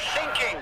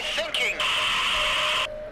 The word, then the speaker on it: thinking: this is the German Coast Guard we are thinking we're sinking what are you thinking about what are